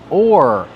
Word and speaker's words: oar: All right, so the first word, oar. This is pronounced the same as this or that.